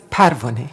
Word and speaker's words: Parvaneh: Just as you said, Parvaneh.